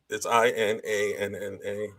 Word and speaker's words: Inanna: I pronounce Inanna or Inanna. It's Inanna.